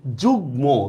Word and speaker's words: যুগ্ম: যেহেতু মফলার উচ্চারণটা বহাল থাকবে আমি কিন্তু এই জায়গায় চন্দ্রবিন্দু দিলে হবে না। যেমন দেখেন এই যে যুগ্ম, দেখছেন এখানে কিন্তু আমি চন্দ্রবিন্দু দিই নাই।